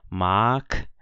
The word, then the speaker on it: mag: Então, G em final de palavra ou final de sílaba, a gente lê como se fosse um K, né? Então, eu leio aqui mag, aqui eu leio Sieg, aqui eu leio Betrag.